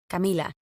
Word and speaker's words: Camila: Now I'm actually working on pronouncing my name as Camila, the way that my family always called me, instead of Camila the Americanized way.